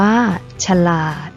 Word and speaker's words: ฉลาด: สง่า อ่าน ว่า สง่า ฉลาด อ่าน ว่า ฉลาด ขยาย อ่าน ว่า ขยาย